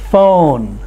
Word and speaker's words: phone: that make the sound ph together make the sound of the f p h and f have the same sound ph in phone like telephone ph in elephant same as the f sound so now on page